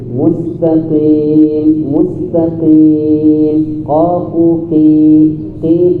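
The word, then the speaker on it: مستقيم: Mustaqim bacanya mustaqim.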